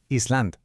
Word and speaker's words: island: pensar en ella como Island, una tierra que es para recordar que esa S no suena.